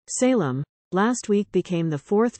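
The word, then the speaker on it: Salame: Lieutenant salamis often were salami whose name is pronounced Salem last week became the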